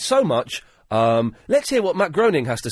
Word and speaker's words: Matt Groening: It's not Groening, it's Groening. Even though there's no A in it.